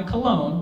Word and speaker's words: cologne: When reached for comment on what it's like after high school, one graduate said, "I find it interesting that my cologne rhymes with alone.